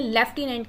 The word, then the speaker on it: lieutenant: आपको जिनको भी एफ का साउंड आ रहा होगा वो फटाफट से ऑप्शन नंबर सी टिक कर देंगे, लेफ्टिनेंट, बिकॉज एफ का साउंड अंडरस्टूड है.